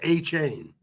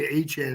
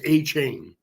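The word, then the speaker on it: Achane: oh I said a chain I think actually pronounced a chain a chain like a chain pronounce a chain yes okay okay when he came out of college they pronoun everyone was pronouncing aan and so was I but when he's he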